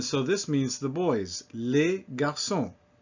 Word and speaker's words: les garçons: Les garçons. No problem, that S is silent.